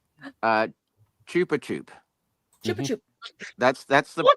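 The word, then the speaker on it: Chupa Chups: from Japan my friend gives me apparently it's pronounced uh Chupa chup chup chup that's that's the that's the correct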